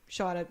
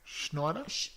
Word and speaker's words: Scheider: when Robert Shaw is working with Richard Dreyfuss and Roy Scheider, it's... Schneider? Is it? No, it's Scheid. Oh, I can't pronounce it. Schneider? No, there's no N. No N.